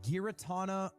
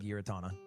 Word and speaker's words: Giratina: So, our next card is the Ooh, Giratina V Star. of Five feels like an ad for Ludwig. pronounce it Giratina.